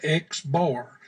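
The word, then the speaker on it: x̄: sample data it is represented by an x with a line across the top of it that is pronounced x bar x bar stands for the sample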